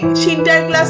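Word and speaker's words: Sinterklaas: ডাচেদের উচ্চারণে সিন্টার ক্লাস থেকে ইংরেজদের উচ্চারণে পরিণত হয়েছিলেন সান্টা ক্লজে।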